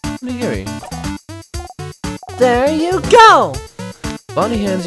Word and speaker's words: onigiri: So onigiri, but Bonnie pronounces it oginiri.